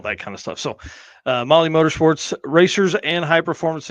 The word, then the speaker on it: Mahle: And for everyone listening to this, not watching, Molly is spelled Mahle.